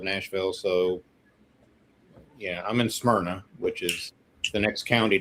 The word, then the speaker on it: Smyrna: So yeah, I'm in Smyrna, which is the next county down from the county that Nashville is in.